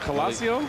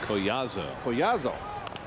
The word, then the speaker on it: Collazo: How you pronounce it? Colasio? Collazo.